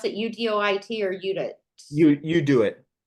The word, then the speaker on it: UDOIT: You do it. Do it is how you pronounce.